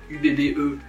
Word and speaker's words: Ubbe: là UB UB je sais comment ça se prononce UB ubbe et Floy au pays des des Indiens les